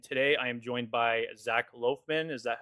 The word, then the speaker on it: Zac Loughman: This is episode five and today I am joined by Zach Loafman. Is that how is that the correct pronunciation?